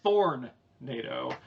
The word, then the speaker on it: Thornado: in a tonic place you were first pronouncing the th with just a t sound and then you you went with thornado yeah see you understand anyway it's Thorn NATO uh and as is